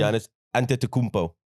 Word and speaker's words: Antetokounmpo: I still can't pronounce his surname. Giannis Antetokounmpo.